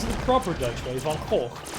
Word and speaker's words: Van Gogh: Sorry, want me to pronounce it the proper Dutch way, Van Gogh. Want me to pronounce it with a hard G, Van Gogh.